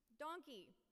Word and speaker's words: donkey: and pepper the book donkey. Donkey used to rhyme with monkey, but now it rhymes with honky concerto.